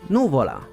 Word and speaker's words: Nùvola: the word pasta wrong the other word is actually pronounced noola I will ignore the